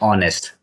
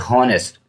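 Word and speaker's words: honest: ऑनेस्ट, इसको पढ़ते हैं ऑनेस्ट, कुछ बच्चे इसको पढ़ते हैं हॉनेस्ट, ठीक ना। ऑनेस्ट होने के कारण यहाँ जो प्रोनाउंसिएशन शुरू हुआ, यहाँ से शुरू हुआ ओ से, तो यश हो गया बाहर।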